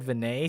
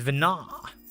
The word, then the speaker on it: Vana: Why is every pronunciation I do wrong? I said Vinay, someone said it's not Vinay. I try Vano, it's not Vano. It's Vana.